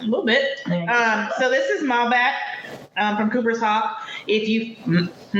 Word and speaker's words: Malbec: So this is Malbec from Cooper's Hawk.